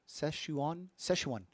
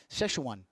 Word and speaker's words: Szechuan: Chase Storms says Szechuan. Am I saying it right, Chase? Szechuan. I feel like a retard saying that. Szechuan. And I'm probably putting a weird enunciation on the shesh.